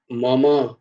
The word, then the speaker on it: মম: मम माया दुरत्यया मम, মম নয়, মম, মা, মা উচ্চারণ হবে, মো নয়, মোমো, মোমোর উচ্চারণ হবে না ওরকম।